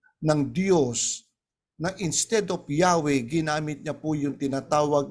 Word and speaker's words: Yahweh: Kung mabibigkasin niyan po ay Yahweh.